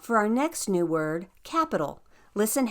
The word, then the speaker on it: capital: Did you also notice how that tonic syllable, that syllable that is the strongest, that gets the pow, is at the end of the word?